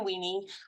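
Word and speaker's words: Winnie: And I swear to you, I had to Google it because I thought my parents were mispronouncing the name of the city. It does exist. It's Weenie, Texas.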